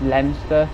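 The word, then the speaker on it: Leominster: through a place and it was spelled L-E-O-M-I-N-I-S-T-E-R, like Leo Minister, whereas it's actually pronounced Leinster.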